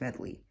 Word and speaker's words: Medley: the app name wrong it's not modify its medley I don't know get